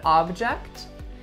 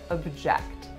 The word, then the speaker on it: object: say Your Honor I object obviously both of those words are spelled the exact same way but as you can hear object object have different pronunciations and they have different stress so today's video is